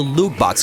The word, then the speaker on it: loot box: It rhymes with moot ox or flute rocks. Yes, we're of course going to talk about the loot box controversy surrounding Star Wars Battlefront 2.